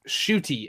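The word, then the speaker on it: Ncuti: how it's spelled NC u t but it's pronounced shoy as an sh o o t y well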